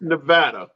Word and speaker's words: Nevada: address something sure it's Nevada not Nevada oh my God okay Nevada thank you I live there not in Nevada it's Nevada yeah it's an e not an a not a na it's